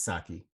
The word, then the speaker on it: Psaki: Psaki to kind that of is how you pronounce it, right? Psaki. it, Psaki or is it Saki? It's Saki. The P is Cyclops. silent. Oh. Psaki, whatever.